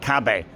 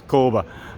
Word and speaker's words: Kabe: This is Kabe, which I've just learned how to pronounce. In Swedish it says Kabe, not Kabe as I've been calling it up, or well, I don't think I ever called it Kabe, but it's Kabe.